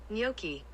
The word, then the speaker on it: gnocchi: for everybody gnocchi there google says it's pronounced like this gnocchi okay we'll go with